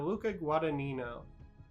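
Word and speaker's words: Luca Guadagnino: Now, as you're almost certainly aware, Sesperia received a remake in 2018 by director Luca Guadanino, aka Guadinho.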